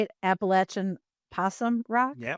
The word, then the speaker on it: Appalachian: There is no other way to pronounce that word. If you pronounce it any other way than Appalachin, you are wrong. If you pronounce it Appalachian, you are damn wrong.